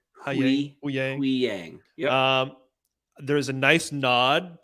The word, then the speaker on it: Huyang: There was is it Huyang? I can never ever say it right. Huyang.